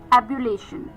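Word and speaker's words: ebullition: तो moving on द 16 एंड the last word for the evening is एबुलेशन।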